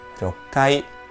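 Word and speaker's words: 六階: yonai cco sería gokai seis es una contración de Roku y de Kai sería rokai siete sería nanai oo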